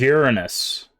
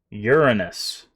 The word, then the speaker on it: Uranus: By the way, for future reference, this is Uranus. You hear me? Uranus. I know it's not much better, but that's how it's pronounced.